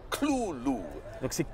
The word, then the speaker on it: Cthulhu: a letter about 1934 Lovecraft actually has a phonetic pronunciation and he says it's two syllables Kulu Kulu Navy doesn't let with